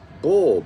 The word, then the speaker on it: Baal: Okay, so the Baal of the scriptures, vitiated in our English utterance or pronounced in English as bull, B-U-L-L, which the sun sun enters in April 19th.